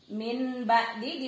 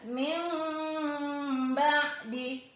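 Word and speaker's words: مِنْ بَعْدِ: Min ba'di dibaca min sambil agak bindeng gitu ya. Min ba'di. Min ba'di. Kenapa? Karena ada nun sukun bertemu ba. Yang bagi. Loh, kok disamarkan? Ya, karena diubah suara N harusnya yan bagi, karena ketemu ba, suara N-nya diubah menjadi M.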